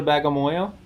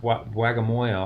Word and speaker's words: Bagamoyo: Did you go to Bagamoyo?